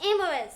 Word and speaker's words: Amorous: Amorous.